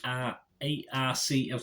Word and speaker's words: Arce: It also stars Mark Strong, Melanie Laurent, Jodie Turner-Smith, and Enrique A-R-C-E. Well, I'd say Arce. That's how it's pronounced, Enrique.